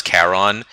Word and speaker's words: Charon: be curious is yeah I pronounce I pronounce when Caesar as kais are Centurion as Ken Tyrion and and Charon as Caron because if I remember correctly he that was how that was actually how the Greeks pronounced it the cnch sounds they pronounce them like K's but yeah I am